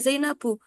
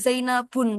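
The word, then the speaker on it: زينبُ: karena tidak menerima tanwin nah dia dibacanya zainabu Laisa Zainabun ya zainabu Oke nanti dia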